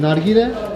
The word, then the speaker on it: nargile: Is it, how do you say, nargile?